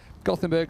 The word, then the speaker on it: Gothenburg: It's Göteborg is how they say it. Bless you. Yeah, exactly. But I will say the people of Gothenburg actually made up the pronunciation Gothenburg to just make them a bit more viable for international trade in the early 1800s. So we're not offending them if we say Gothenburg.